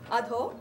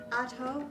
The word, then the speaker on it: Adho: Adho is downward, Mukha is face, Shwana is dog.